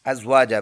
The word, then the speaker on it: أزواجا: أزواجا stop کریں گے، دو زبر میں سے ایک زبر پڑھیں گے ایک سائلنٹ ہو جائے گا، ازواجا بن جائے گا.